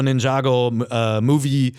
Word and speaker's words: Ninjago: Now we got Lego Ninjago the movie video game. It's actually pronounced Ninjago.